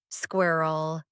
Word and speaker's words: squirrel: It's got two syllables. Squirrel. Nobody has time for two syllables.